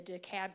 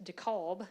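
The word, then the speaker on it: DeKalb: I'm in actually the daab county not the Fulton County part which everybody knows daab County thanks a lot elections um but they're also saying it correctly instead of deob which is great um but we had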